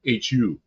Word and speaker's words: Hu: You know about the Who and it's spelled Hu. Not like the Who in America, but The Who. Hu.